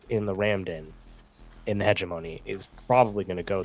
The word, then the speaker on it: hegemony: Hegemony. It'll be the Protect them from the season. huge money.